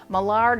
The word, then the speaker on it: Millard: Millard is mallard, okay, but they pronounce it Millard.